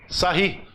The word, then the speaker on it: Sarrus: Determinante de ordem 3 se usa a regra de Sarri. Escreve-se Sarros, mas pronuncia Sarri.